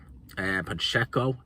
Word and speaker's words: Pacheco: Pacheco, is how you say, Diego Pacheco.